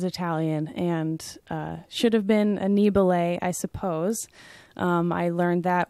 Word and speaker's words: Annibale: we ate in the Italian restaurant and they pronounced our name Annie ballet and I thought what did you know what